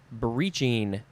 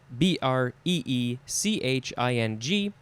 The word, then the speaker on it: breeching: Okay, the first word is breeching. B-R-E-E-C-H-I-N-G. And this is could also be breeching. I guess it depends on where you are, if you want to do the long E or the I sound.